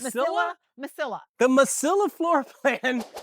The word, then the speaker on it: Mesilla: Let's say Masia? Masilla? Masilla.